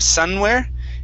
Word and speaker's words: somewhere: So make sure to pronounce the M instead of somewhere. It's somewhere. Somewhere. Okay. Now, after the M, you want to go to the U sound.